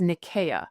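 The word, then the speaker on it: Nicaea: But the correct pronunciation and the one that they would have used at the time was Nikaya. So think of it with a K, not a C.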